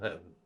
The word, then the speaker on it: heaven: are we to speak Shakespeare almost always says a one syllable heaven American say two syllable heaven and this word usually